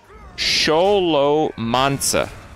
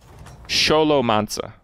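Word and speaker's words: Șolomanța: i know how these letters are pronounced it's pronounced sholo manza sholo manza sholo i knew it it's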